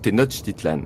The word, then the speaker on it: Tenochtitlan: De même le CH se prononce TCH. Donc la capitale aztèque, Tenochtitlan, se dit donc Tenochtitlan.